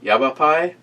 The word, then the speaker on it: Yavapai: get a real doll in there Edie it's pronounced yeah yeah pie yavapai that is one hell of a case for